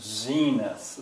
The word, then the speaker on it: zenith: Eventually someone might say 2 syllables, and the first one is stressed. Zenith, that's right.